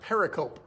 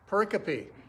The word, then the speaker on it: pericope: it's spelled p-e-r-i c-o-p-e you would think it's pronounced pericle but actually the correct pronunciation is pericopy pericopy now a pericappy is